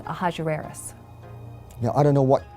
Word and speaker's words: Ahasuerus: Now, that was hard for the Jews to pronounce, so they said Ahasuerus.